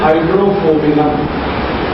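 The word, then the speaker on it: Hydrophobinum: दवा का नाम है हाइड्रोफोबिनम। मैं स्पेलिंग बोलता हूँ HYDRO, HYDRO, फिर उसके बाद PHO, P for parents, PHO, BI, ये भी वाला BINUM, हाइड्रोफोबिनम, ये दवा है।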